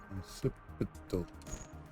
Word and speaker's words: Ancipital: Saying Anticiple Ancipital. Saying it wrong. Ancipital.